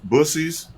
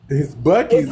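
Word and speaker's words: Buc-ee's: Bussies. No, pussy. That's a real restaurant. I thought it was fake. I thought Bussy. people just making a joke. It's Bucky's, ain't it? It's pronounced Bucky.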